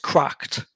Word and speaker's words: CRKD: Yeah, so it's obviously it's pronounced Cracked.